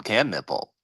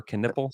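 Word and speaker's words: Knueppel: can he nipple KH can nipple Khan can nipple yes he can it's spelled k n u p p l which I would thought would be spelled canle or just nle but you watch I'm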